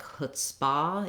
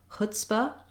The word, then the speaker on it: chutzpah: short and reduced because the stress in chutzpah is on the hut or chut syllable. So you don't want it to sound like chutzpah. You don't want a lot of length and stress on that second syllable.